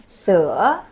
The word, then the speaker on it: sữa: This one, with the hook, you make a smile, you go sữa.